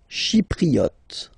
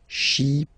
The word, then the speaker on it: Chypriote: Chypriote. Remember this Y is pronounced like I. Okay. Chypriote.